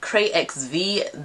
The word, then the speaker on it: CRAYXVEE: CRAYXVEE. The X is silent.